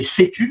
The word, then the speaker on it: C3: ce qu'on a baptisé C-Cube. Alors, on le prononce C-Cube et on l'écrit C3 pour Centre de compétences